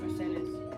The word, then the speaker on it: Mercedes: Well, they pronounce it Spanish, Mercedes.